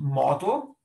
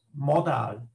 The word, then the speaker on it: modal: I mean here not model, I mean model, modal, comes from modality, not from model.